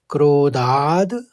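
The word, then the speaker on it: क्रोधाद्: में दो शब्द है क्रोधाद भवती और सम्मोहस ये क्रोधाद में ध के ऊपर आघात था तो पहले द का उच्चारण होगा फिर भवती निकलेगा और सम्मोहस में विसर्ग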